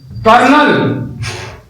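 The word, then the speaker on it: colonel: ये बताइए एक शब्द और आता है कॉलोनल, ये देखिए कर्नल और लिखा होता कॉलोनल।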